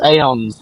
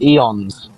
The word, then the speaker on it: aeons: like, Murad, it's aeons, not eons.